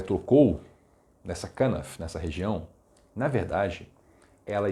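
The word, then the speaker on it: כנף: Kanaf. Kanaf é uma palavra que quer dizer borda ou extremidade, cantos. Ela aparece com diversos significados. Quando essa mulher foi lá e tocou nessa kanaf, nessa região, na verdade, ela estava se apropriando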